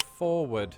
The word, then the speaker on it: forward: While most Americans pronounce it Forward. a phenomenon has emerged in recent decades in which some Americans drop the first R. In linguistic circles, this phenomenon is known as dissimilation.